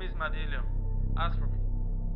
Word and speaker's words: Madillio: My name is Madilio. Ask for me. Spell it.